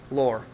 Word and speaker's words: Loer: Loer.